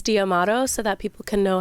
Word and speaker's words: D'Amato: that if you're in Italy they probably say damato but he says damato so that people can know how to spell it and know how to find him before